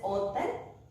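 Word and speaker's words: hôtel: H is silent and we pronounce it as hotel, hospital.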